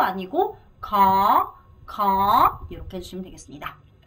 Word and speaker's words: khó: 발음 코 아니고 khó 이렇게 해주시면 되겠습니다.